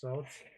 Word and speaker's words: swords: I prefer how you pronounce swords. I love swords. Swords. Well, why is it that you have a W in the word sword, but you don't pronounce it?